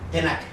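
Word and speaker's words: Tanakh: Y ahí ellos ocupan la T, la N y la K para pronunciar que la Biblia de ellos se llamaba así. Tenach.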